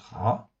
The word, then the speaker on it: רע: Donc le mot ra, comme vous le voyez en fait ici à l'écran, ça se prononce ra, ça s'écrit avec un resh et un aïn, ça existe 663 fois dans 623 versets.